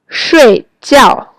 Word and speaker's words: 睡觉: 睡觉. These syllables have the fourth tone, means to sleep, but 水饺 have the third tone, means boiled dumplings.